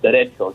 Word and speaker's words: derecho: You say derecho, not that you're saying derecho or whatever. It's derecho, CH, derecho.